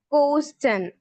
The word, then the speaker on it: question: Whenever a word ends with the STION letter, so we will pronounce it as shun sound. For example, it is not quotient, it is question.